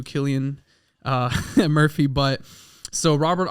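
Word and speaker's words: Cillian: played by killan Murphy by the way I mispronounced his name last episode I said San I I feel stupid so my apologies to Killian uh Murphy but so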